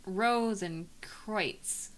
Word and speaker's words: Rosenkreutz: Rosenkreutz is pronounced Rosenkreutz. Rosenkreutz? Rosenkreutz. Because German is a very silly language.